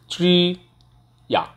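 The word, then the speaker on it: 职业: ট্রি আ, ট্রি আ, ট্রি আ অর্থাৎ এখানে চয়রা ফল, actually চয়রা ফলটা ওভাবে উচ্চারণ হয় না, এবার বলতে হয় ট্রি ইয়া, ট্রি ইয়া, ই আ, ট্রি আ।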